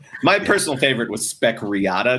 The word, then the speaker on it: Riata: My personal favorite was spec Riata, just because it rhymes with spec Miata.